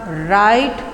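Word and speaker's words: write: कि रीड उसके बाद राइट राइट में आपका डब्लू साइलेंट है राइट और ट्रॉट और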